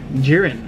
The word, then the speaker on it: Jiren: the way for uh jiren apparently I've been saying it wrong this entire time so what are you even saying GYN it has an I but it's actually pronounced with a e so and this was